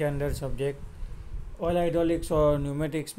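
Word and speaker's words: pneumatics: ये जो न्यूमेटिक्स spelling में आपको पी दिखेगा, ठीक है, पी का जो प्रोनाउंसिएशन होगा वो थोड़ा हिडन होगा। तो क्या बोलेंगे उसको? न्यूमेटिक्स एंड it's meaning.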